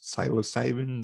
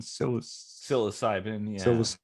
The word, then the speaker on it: psilocybin: and and um how do you say it's cytosaving psilocybin yeah like things like that are being looked